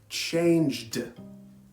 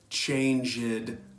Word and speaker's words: changed: is any other sound do not pronounce the e you will only pronounce the last sound for example changed finished that is the correct pronunciation not change it finish it I hear